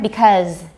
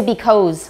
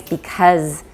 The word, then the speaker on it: because: be what very good good because v wedge everyone because don't say because or anything like that okay it's because and they're probably oh